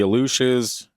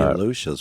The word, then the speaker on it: Aluxes: Interesting, because when you said it like that, I was thinking the Aleutian Islands. Yeah, that's kind of what I thought too. That's how it's pronounced, but the spelling of it is Aluxes.